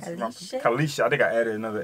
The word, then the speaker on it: Khayelitsha: It's a home to a lot of people, Khayelitsha, so yeah.